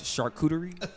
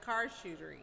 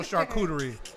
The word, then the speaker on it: charcuterie: it the opposite way she said okay so it's charcuterie she says card shooter oh shooter and she can't get it right but